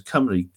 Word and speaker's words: Cymru: Cymru is the name with a Y at the end is the name of the people, and Cymru with a U at the end is the name, which is pronounced the same in Welsh, is the name of the country.